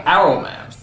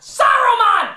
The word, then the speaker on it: Saruman: It's pronounced Saruman! The S isn't silent!